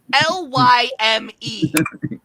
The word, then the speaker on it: Lym: Lyme. L-Y-M. Like Like lime. Like lime.